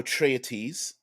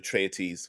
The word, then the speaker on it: Atreides: have a story of a a young paul atreites i've heard it pronounced atreides and atreites whatever atreides sorry and coming of age so we do